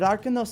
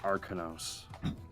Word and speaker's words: Arcanos: Arcanos. Basically Arcana, but then N-O-S at the end. Arcanos.